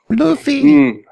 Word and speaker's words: Luffy: Luffy. At least that's how they say it in the game. Luffy.